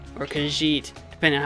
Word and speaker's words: Khajiit: I call them the Khajiit or Khajiit, depending on how I feel. I either do the soft j or I do the hard j. I'm never really fully decided on that. It's usually Khajiit.